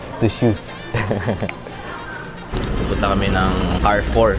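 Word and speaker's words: Carrefour: shoes pupunta kami ng car 4 n lalakad pa kami malapit na kami anang spelling niya c a r r e pero ang bigkas nila car 4 Dito na kami car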